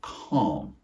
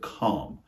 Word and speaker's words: calm: to do things differently other words with a silent L are for example the word calm not C but calm notice how the vowel